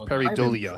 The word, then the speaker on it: pareidolia: I think it's pronounced pareidolia.